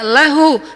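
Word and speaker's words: لَهُ: tinggal artinya milik Allah hilangin lam pertamanya bacanya lahu milik dia yaitu Allah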